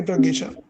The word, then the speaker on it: Prisha: the top of leaderboard PR sha uh please correct me if I'm wrong pronouncing your name wrong awesome awesome prha please drop your email in chat box no sir it's exactly Prisha it's correct PR okay okay okay